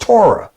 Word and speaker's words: Torah: every four letter spells t-o-r-h the hebrew word that's pronounced torah meaning the law of